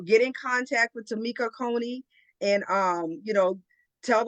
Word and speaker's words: Coney: t m e k tamama Cony like Coney Island so Tama Cony you could Google you'll